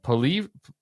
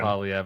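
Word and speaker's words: Poilievre: I always going to say his name around, Polyev. Everybody just calls him Pierre, though. You can just call him Doesn't really Pierre. look You'll like a fit in. Polyev.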